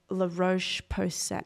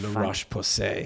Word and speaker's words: La Roche-Posay: and I get the La Roche-Posay. I don't know how to pronounce it, and it's La Roche-Posay. Yeah, something like that.